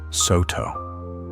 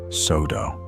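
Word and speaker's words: Sōtō: Therefore, contrary to a common misprononunciation among some Japanese speakers, it should rightly be pronounced sto, not sodo.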